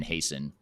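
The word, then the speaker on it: Hason: the the company name uh so it's hasten uh and the last name is hasten h-a-s-o-n and the company is spelled aporia a-p-o-r-i-a but what is the website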